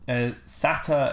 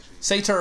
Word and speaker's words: satyr: Sata is apparently British, but I've never heard anyone pronouncing it that way. Me neither. Satyr is like the way that...